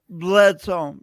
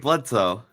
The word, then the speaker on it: Bledsoe: Please welcome to the Awkwardly Awesome stage, as it were, Deb Workman and Bledsoe. How do you say your last name? Oh, you did great, Bledsoe.